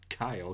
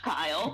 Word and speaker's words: Guile: replaces the okay okay it's spelled guile but it's pronounced Kyle cuz you the L and the E and the Y it's it's just but it's pronounced Kyle but it's pronounced Kyle